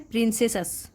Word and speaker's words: princesses: इसकी प्रोनाउंसिएशन होती है प्रिंसेसस।